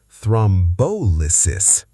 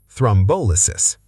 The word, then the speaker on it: thrombolysis: Equal stress is wrong. Correct. Thrombolysis. Thrombolysis.